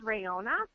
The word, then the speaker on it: Rhonna: It's called Rayonna, and it's spelled RHONNA.